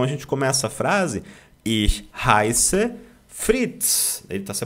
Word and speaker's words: ich: Fala com a língua presa atrás dos dentes. Ih, deu ruim. Né? Pronto, a pronúncia está perfeita, tá legal? Então, ich heiße Fritz.